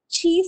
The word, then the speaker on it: Qi: such standards is the chi standards it is written Qi but it is spelled CH and this is a Chinese word which means uh the